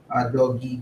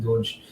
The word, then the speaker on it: Doge: Uh, by the way, a lot of people pronounce it differently. There are some people who pronounce it doggy, but I pronounce it Doge.